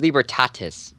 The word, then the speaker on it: Libertatis: I don't know, because they've probably seen a bunch of Libratus Park. Or at least when I filmed it. It's boring over there. And it's Libertatis, by the way.